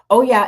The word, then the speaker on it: Oya: So these particular guides um Oya that if you don't know how to pronounce it Oya and Shango that's god of justice and war um as well as the goddess of uh she can bring death.